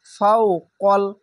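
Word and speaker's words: فوق: ফাওকাল, এই কাল বললাম, এখানে ভুল করলাম কেন, এটি হচ্ছে কফ, তো কফ লাম যাওয়ার কল হবে, কাল হবে না, আকার উচ্চারণ হবে না, মোটা অক্ষরে আকার উচ্চারণ হবে না। ফাওকল, কল, কফ লাম যাওয়ার কল, ফাওকল লাযিনা, জেরের পাশে ইয়া সাকিন এক আলিফ টেনে পড়বেন।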